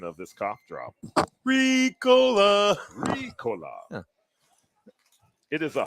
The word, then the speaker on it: Ricola: Yeah, what's the actual pronunciation of this cough drop? Ricola.